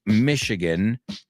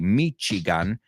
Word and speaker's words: Michigan: Lake Michigan is in Chicago. I know you say Michigan and Chicago, but remember, in English, both of those are shh, shh.